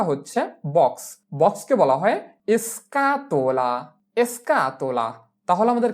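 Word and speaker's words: scatola: বক্সকে বলা হয় এসকাতোলা এসকাতোলা।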